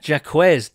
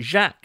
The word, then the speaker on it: Jacquez: He consulted his XFL coach and they both said it was Jacquez, and he apologised to Jacquez for pronouncing it Jacques, and he said, no worries, man.